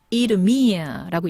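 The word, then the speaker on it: Idumea: 예루살렘을 Jerusalem 하고 이두메는 이두미아라고 읽습니다.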